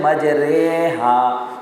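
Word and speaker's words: مجریها: ایک جگہ ہے، مجریہا، اس کا تلفظ ہے مجریہا، جیسے قطرے ہیں، مجریہا نہیں پڑھیں گے اس کو، ٹھیک ہے جی۔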